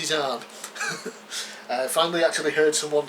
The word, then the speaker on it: Zahn: I have always called him Timothy Zahn. Turns out it's Timothy Zahn.